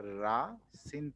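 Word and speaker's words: الرأس: লাম না হ্যাঁ মানে রা এর পূর্বে যদি আলিফ লাম থাকে তাহলে লামের উচ্চারণটা হয় না মানে লামের উচ্চারণটা উজ্জ্ব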